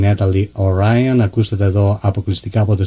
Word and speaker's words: Oryon: I believe I'm pronouncing that right. Oryon, right?